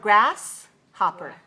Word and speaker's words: grasshopper: this word grasshopper okay so when we look at the word in spelling we see GRA SS grass so the first syllable is grasped now I heard some of you saying shopper it's not shopper it is hopper pepperin pepperin huh okay